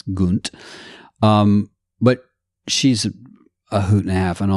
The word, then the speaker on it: Gunt: I mispronounce it. It's Gunt.